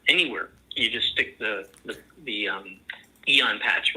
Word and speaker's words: Aeon: Another one that is one of the top favorites of everybody is called the Eon patch, and that's spelled AEON.